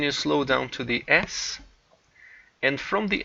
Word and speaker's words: S: slow down to the s and from the s but pronounced se in Portuguese you go to the